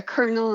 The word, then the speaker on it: colonel: colonel in the Army do you know how to spell it yeah yeah c-o-l-o like it's it's a French Colonel like you know so it doesn't even sound like it's spelled so yeah our language is